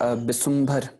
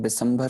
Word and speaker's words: बिसुम्भर: वैसे बहुत सारे शब्द आ जाते हैं, जैसे बिसुम्भर, ठीक है। अक्सर औकात यहाँ पर भी हम बिसंभर उच्चारण कर लेते हैं, जो कि गलत उच्चारण हो बैठता है।